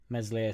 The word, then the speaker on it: Meslier: Meslier, Silent S just should have just stayed.